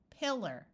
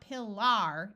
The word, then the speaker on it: pillar: In unaccented syllables, it could schwa, like at the end of these words. So we have pillar. So it's not pillar, it's pillar.